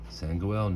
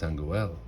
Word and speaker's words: Sangoel: Hey, Sango. My name is Sangoel, he called softly as the boy ran off.